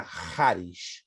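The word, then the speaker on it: charis: tem a raiz da palavra grega Hari Hari se escreve c h a r s raro Mas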